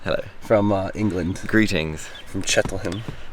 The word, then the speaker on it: Cheltenham: From Cheltenham. Cheltenham. Is that not how you pronounce it? That's close. You're closer than most Americans.